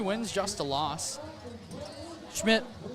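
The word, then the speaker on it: Schmich: Schmidt, not to be confused with Schmish, as it might look like his name is spelled, S-C-H-M-I-C-H, pronounced Schmidt.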